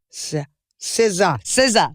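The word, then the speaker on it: SZA: say her name yeah no I didn't It's siza s s i love you I just couldn't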